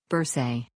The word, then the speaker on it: bursae: a general role remember every time you have two vowels after each other pronounce the word with the sound of second vowel bursae or flurry or rent